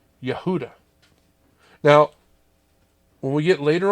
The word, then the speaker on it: Yehuda: be praised and Hebrew Judah is pronounced Yehuda now when we get